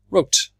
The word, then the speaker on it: wrote: drove yesterday I remember it's a silent W and right and we keep this on W in the past yesterday I wrote so before I say it